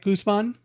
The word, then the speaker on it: Guzman: And am I pronouncing it right? Guzman.